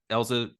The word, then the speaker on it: Elza: big one um Dr Susan elza is that Elsa correct yeah pronunciation okay um I had I thought I'd